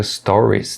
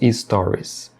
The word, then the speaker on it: stories: Na palavra stories também, é muito comum que as pessoas errem adicionando uma vogal ali onde não tem, falando stories, stories, stories. O correto é stories. Você só pronuncia o som de S, stories, e termina a palavra stories. Só o S, stories, e não stories, stories. Não se deve adicionar a vogal I ali no início.